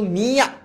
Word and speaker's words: মিয়া: এটার উচ্চারণ কিন্তু মিয়া, মিয়া নাকে হবে, চিল্লায় বলতে হবে।